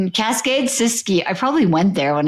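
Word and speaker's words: Siskiyou: Michael uh Miles Sysu Cascade Sysu National Monument. Cascade Sysu.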